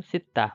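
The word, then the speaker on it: 씻다: धुनु सित्ता मुख धुनु यो उच्चारण गर्दा खेरि चाहिँ यो फाचीमा स छ कि ज छ कि द छ सबैको उच्चारण त नै हुन्छ भने बेलाबेलामा चाहिँ यसको पनि याद गर्ने गर्नुस है त यसमा चाहिँ फासीमा स छ यो पनि याद गर्ने गर्नु होला।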